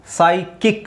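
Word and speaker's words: psychic: ಈ ವರ್ಡ್ ನ ಬಿಟ್ಬಿಡಿ ಸೈಕಿಕ್ ಅಂತ ಹೇಳಬೇಕು ಅಲ್ಲಿ ಪಿ ನು ಸೈಲೆಂಟ್ ಆಗಿರುತ್ತೆ ಸಿ ಎಚ್ ಸೌಂಡ್ ಬಂದು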